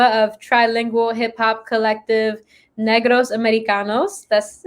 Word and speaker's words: Negros Americanos: We saw that Danielle actually was introduced by a college friend, MC Enigma of trilingual hip hop collective Negros Americanos. That's how you pronounce it, right?